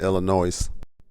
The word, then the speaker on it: Illinois: role in politics in Illinois our hero smiles and tells the nurse that the S is silent they both laugh our